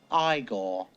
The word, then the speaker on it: Igor: arrives Frederick meets eigor now it's pronounced igore um igore his new